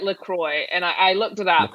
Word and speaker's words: LaCroix: very good what flavour Kroy our patient peach Pierre all right let's save this debate this is nice to say it correctly you're supposed to say it Lacroix and I looked it